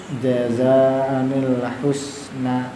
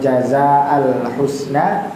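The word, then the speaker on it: جَزَاءً الْحُسْنَىٰ: Jadi bukan jazaan atau jazaal husna, tapi jazaanil husna.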